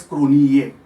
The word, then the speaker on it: Cronje: it was written as Cronje, but they were pronouncing as Cronier.